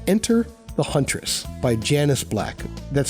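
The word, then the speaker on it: Janus: It's called Enter the Huntress by Janice Black. That's spelled j a n u s.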